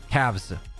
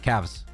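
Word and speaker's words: calves: Cavs. L is silent. Thank you so much. Cavs.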